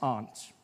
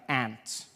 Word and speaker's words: aunt: For instance, I pronounce the opposites of uncle as aunt. I say my aunt. Out here you say my ant, which to me is an insect, which made me look